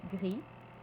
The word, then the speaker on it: gris: termine par un S on ne prononce pas le S au masculin mais on le prononcera au féminin mais de manière très atténuée comme the exemple gris grise voyons maintenant les AD